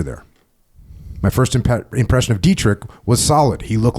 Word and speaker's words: Dietrich: Yeah, Dietrich. From Marysville, Pennsylvania. The night Dietrich arrived, the radio operator woke me up and told me there was a new soldier there. My first impression of Dietrich was solid.